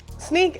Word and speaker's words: Snyk: will instrument an application we'll sneak data out and we'll help that secure it but we'll spell it with a y like the cool kids do yeah and then